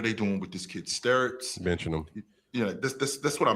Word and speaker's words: Stirtz: So the kid Bennett, I keep getting his name wrong. It's Stirtz. Stirtz, sure.